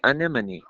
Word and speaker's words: Anemone: Well, it's a it's a movie that for most of the year I mispronounced. Uh, but it's called Anemone. Anemone.